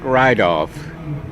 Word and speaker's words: Rydolph: is your name sir my name is rydov could you spell that for the camera please or rydolph